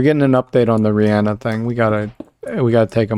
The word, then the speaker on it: Rihanna: Per Google, it's pronounced Rihanna.